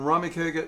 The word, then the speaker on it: Ramekega: YouTube channel is what it's rummy kegger and Rahmi kegger is spelled I know this one ra m EK